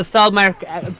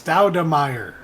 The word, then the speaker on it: Stoudemire: I will find out the Stoudman rookie card. You're not saying it right. It's Stoudemire.